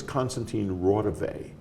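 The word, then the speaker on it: Konstantin Raudive: who it was but they mispronounced his name his name was Constantine Rave and he was a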